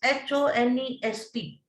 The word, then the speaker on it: honest: example i'll tell you honest unless the spelling is h-o-n-e-s-t but we pronounce it as honest h is silent there so we will say